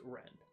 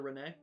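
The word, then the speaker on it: Renne: It's pronounced Ren.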